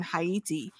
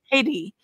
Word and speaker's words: Haiti: are going on in hati and I'm saying hati because that's how it's actually supposed to be pronounced but we know it as Haiti and looking at the